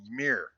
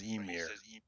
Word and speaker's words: Ymir: Oh, the one he's saying Ymir. He says Emir. I think the Y is silent because I'm Canadian, but whatever.